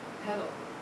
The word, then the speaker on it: petal: So remember we were saying with the principal component analysis that the fetal length was one of the most important variables? What? Petal.